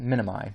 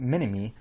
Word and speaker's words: minimi: It's pronounced minimi, but I always think minimi, like Dr. Ebel and his minimi, right?